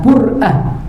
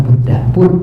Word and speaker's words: Burdah: Ya, Al-Habib Zain bin Ibrahim bin Smith, beliau pernah mengatakan sebaiknya kita burdah ini dikatakan bur'ah, bukan burdah, bur'ah.